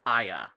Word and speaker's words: Aya: All they have is a pronunciation guide for her first name, which is Aya. I as in what's in your skull, Ya as in yeah, yeah.